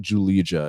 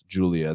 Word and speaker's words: Julija: And guys, it's not Julija, it's Julia. That second J is silent.